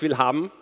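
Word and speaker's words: Willhaben: is truly Christian Patzer so it's pronounced will hum which is if you would translate it in English something like I want to have this one 1/2 yeah it's a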